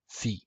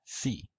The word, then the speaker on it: Phi: Phi. In classical Greek, it was pronounced p. In Koine, in modern Greek, it's pronounced phi.